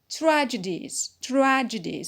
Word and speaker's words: tragedies: Tragedies, so the stress is on tra.